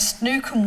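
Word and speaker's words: snoek: was snook it's called it's s-n-o-e-k and it's pronounced snook apparently um and it was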